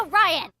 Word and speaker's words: Orion: exactly where's that uh it's pronounced and it's pronounced Orion well maybe green orans